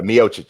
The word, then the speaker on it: Miocic: So yeah, so I think that Mochik, I have a hard time pronouncing that. Yeah, Miocic.